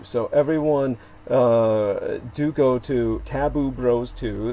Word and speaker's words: Taboo Bros 2: So everyone do go to Taboo Bros 2. That's spelled TABOO space BROS space Roman numeral 2. I used to say Taboo Brothers, which Lena Shea informed myself led to basically a softcore incestuous porn channel.